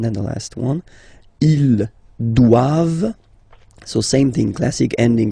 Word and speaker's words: doivent: All right, and then the last one, ils doivent. So same thing, classic ending for the plural form, E-N-T here, okay, but then you don't pronounce it. Doivent, doivent, elles doivent, ils doivent, elles doivent, okay?